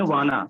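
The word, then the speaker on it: wanna: वांट टू को short में बोलते हैं वाना। क्या बोलते हैं? वाना। हाँ, वाना नहीं, वाना। वाना, आई वाना, आई वाना। अब वाना आ गया तो टू नहीं लगेगा, ध्यान देना। बहुत से लोग होते हैं वाना के बाद भी टू बोलते हैं, आई वाना टू।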